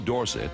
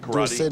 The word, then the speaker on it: Dorsett: And anyway, Dorsett is supposed to be a French name. Stop and go. And S-E-T-T spells set and not sit. So I think that is the correct pronunciation.